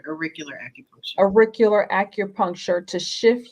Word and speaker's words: auricular: How do you pronounce that? A cultural acupuncture, is that Yes, right? auricular acupuncture.